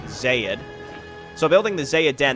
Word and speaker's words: Xayid: I've seen zyyd again they used to be called Zeid or I was just pronouncing it incorrectly but now it's now it is Zaid so building the zaiah